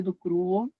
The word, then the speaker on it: Ducraux: Meu nome é do Cru, né? É, realmente ele escreve do Craus, mas é do Cru se pronuncia.